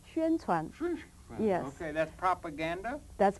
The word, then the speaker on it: 宣传: 宣传. How do you say? How you say? 宣传.